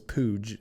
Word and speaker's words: Puig: was playing for arizona state his name is pooj i i don't remember his first name like david pooj it's spelled like uh puig yaciel puy david spooch spooch sabudra or pooch sorry yeah